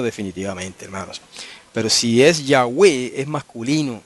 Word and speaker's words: Yahweh: Como ahora algunos están diciendo Yahweh y Yahuwah, añadiéndole una U ahí donde no va.